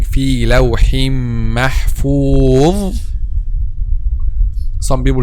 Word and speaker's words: محفوظ: As we said, the common mistake when pronounced letter dha is to make the tip of the tongue turns back and then pronouncing letter zay instead of letter dha.